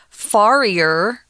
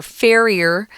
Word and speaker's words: farrier: tom before we started it looks like you want to pronounce it as farier but you don't it's fair farrier um the farrier is